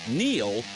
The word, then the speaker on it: Neil: It's no coincidence that Neil rhymes with deal because that's something you can always count on.